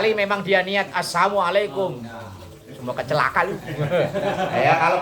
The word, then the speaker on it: assalamualaikum: Misalnya assalamualaikum yang benar kan lamnya panjang. Ya misalnya dia bacanya pendek assalamualaikum atau asilmu atau assalamu tapi niatnya sama tidak merubah maka itu tak mengapa.